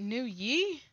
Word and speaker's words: Nguyen: The G is silent though. G is... Is it New Yi?